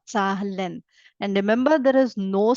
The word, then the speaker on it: Zahlen: Z is set sound, right? I read it as Sa, ZAHLEN, ZAHLEN.